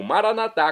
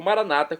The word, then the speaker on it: Maranata: a melhor coisa e agora eu clamo maranat como dizemos nós católicos ou Maranata como dizem nossos irmãos separados os evangélicos ou protestantes não importa a pronúncia o significado é o mesmo vinde Senhor Jesus um